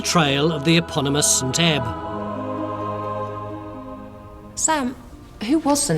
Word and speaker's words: Ebba: I answer that question I must pedantically point out uh the correct pronunciation should be St AB but we'll stick to e because it's what we call around here so fair enough her